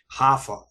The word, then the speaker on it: Rafael: don't pronounce the R, so they call him Hafa.